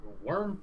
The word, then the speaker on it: wyrm: The mage, actually, to be more specific, he is a worm priest. Ooh. That's spelled WYRM.